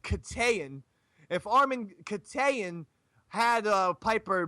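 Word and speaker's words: Keteyian: If Armin, and I believe his name is pronounced Katayan, if Armin Katayan had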